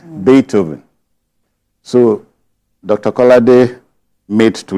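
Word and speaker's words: Beethoven: I said bethoven okay not bethoven it's a German name bethoven so Dr kard made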